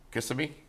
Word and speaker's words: Kissimmee: Kissimmee? Yeah. Is it Kissimmee or Kissimmee? Kissimmee. Kissimmee? Kiss me, Tim.